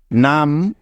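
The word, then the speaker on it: numb: হবে হ্যাঁ একদম ঠিক এখানে বি এর কোন উচ্চারণই হবে না যেহেতু বি এর আগে এম আছে তাই কারণ এটাই হলো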